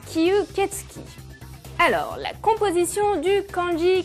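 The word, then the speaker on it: 吸血鬼: Mais il existe un mot plus traditionnel, écrit en kanji comme cela, qui se prononce kyuketsuki.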